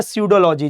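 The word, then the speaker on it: pseudology: उसके बाद है सडोलॉजी। जी हां, इसमें भी पी कैपिटल है सडोलॉजी।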